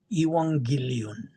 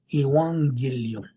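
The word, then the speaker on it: εὐαγγέλιον: If I ask you, well, the Greek word for gospel is ewangilon. E U A G E L I O N Iwangillion. That's how it's pronounced in uh the Greek.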